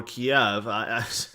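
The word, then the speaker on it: Kyiv: is day three and ke or Kiev interesting enough I always thought it's called Kiev and then uh I noticed people in Ukraine call keev and then I see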